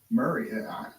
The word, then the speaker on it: Maury: Chat's confirming Maury County is pronounced like Murray. Just FYI. Murray, I said Murray, didn't I?